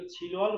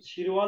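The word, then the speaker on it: 칠월: अब छिलमा वल जोड्दाखेरि चाहिँ यो छिलवल भन्दा पनि छिरवल उच्चारण हुन्छ, छिरवल, छिरवल भनेको चाहिँ जुलाई, छिरवल भनेको जुलाई।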